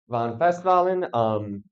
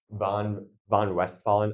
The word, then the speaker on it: von Westphalen: Yeah, von Festwalen. In German, V's are pronounced like F's, W's are pronounced like V's, depending on where they are in this sentence.